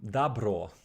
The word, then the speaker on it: добро: So next one, dabro, which is the Russian pronunciation of good, right?